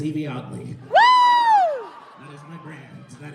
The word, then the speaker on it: Yvie Oddly: buying random tickets although if you've ever been curious on how to pronounce it pay attention to the whole two TV shows that set it for a whole season yes they did however my name is Eevee odley that is my brand